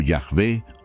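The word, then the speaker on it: Yahvé: el nombre ih hw pronunciado como yahve o Jehová este nombre aparece por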